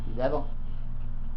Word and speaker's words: Jezebel: I want to say that's how you say it in English. Jezebel.